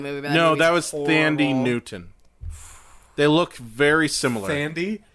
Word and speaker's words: Thandie Newton: No, seriously, it's Thandie Newton.